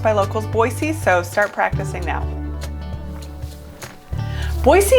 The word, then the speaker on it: Boise: there's nothing wrong with it but it is pronounced by locals boise so start practicing now boise is a pretty